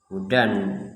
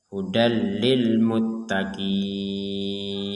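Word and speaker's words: هُدًى لِّلْمُتَّقِينَ: Maka di sini kita bacanya adalah ee idgham bila gunah. Dimasukkan tanwinnya kita masukkan ke huruf lam sehingga kita membacanya hudallil. Jadi bukan membacanya hudan ya. Bukan membacanya hudan tapi membacanya hudal ya.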